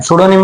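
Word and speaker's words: pseudonym: सुडोनिम मतलब देखो ये पी से स्टार्ट हो रहा है लेकिन इसका प्रोनाउंसिएशन हो जाए सुडोनिम।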